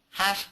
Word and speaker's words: half: good so in America when we say half like half a mile or half halfway finished uh don't worry about the L just get rid of the L and think of it as two FS half half half brother